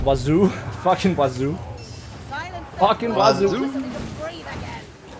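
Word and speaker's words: oiseau: Wazoo? Fucking wazoo. Fucking wazoo. Right, but I really didn't want to learn French. It's not wazoo, it's wazo.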